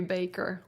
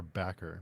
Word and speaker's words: Bakker: the names is it is it Baker or backer because I've heard it pronounced both ways I've always assume it was Baker um but I actually have no idea if if that's the correct pronunciation I I think it is Baker oh okay those are